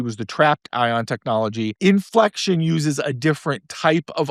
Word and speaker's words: Infleqtion: So the company's name is Inflection. It's spelled INFLEQTION, and the ticker symbol is INFQ.